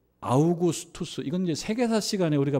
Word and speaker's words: 아우구스투스: 가이사 아구스도가 영을 내려 아구스도 아고 이렇게 음역을 했어요 옛날 성경 옛날 독법이 옛날 발음으로 아구스도 아고 이렇게 했는데 우리가 세계사 시간에 배운 대로 발음하자면 아우구스투스라고 하는 사람이죠 조넘 자고 당시에 아주